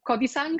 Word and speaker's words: Kodisang: Um our session now today is about the hero's journey and more specifically the specific hero's journey of Kodisang.